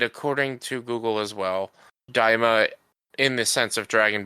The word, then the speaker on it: Daima: According to Google, it's pronounced Daima, Dyemah, Daima.